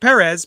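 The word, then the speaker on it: Pérez: hi this is george perez and you're listening to pop tarts podcast so um i pronounce it perez because that's how he pronounced it when he announced himself on my show that's a good reason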